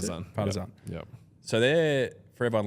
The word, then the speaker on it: Partizan: Is that how you pronounce it? Partizan.